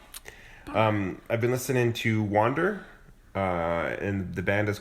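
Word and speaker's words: Wvnder: I've been listening to wander uh and the band is called it's called Wander but it's spelled w and it's a v n d e r the V is supposed to be an a I guess uh album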